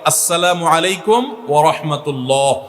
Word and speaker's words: আসসালামু আলাইকুম ওয়া রাহমাতুল্লাহ: শুদ্ধভাবে সালামের উচ্চারণ বাড়ানোর জন্য শুদ্ধ করে সালাম দিতে হবে, আসসালামু আলাইকুম ওয়া রাহমাতুল্লাহ।